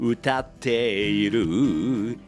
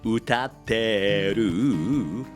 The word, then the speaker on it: 歌っている: You don't need to pronounce the E sound in いる very clearly. In Japanese, both 歌っている and 歌ってる are acceptable.